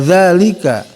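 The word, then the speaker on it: ذلك: Wa dza ya, dzanya digigit ya, ujung lidah dikeluarkan sedikit ya, digigit lidahnya. Wa dzalika ya, sama ka-nya huruf huruf lisan tapi ada hamsnya, ada desisnya.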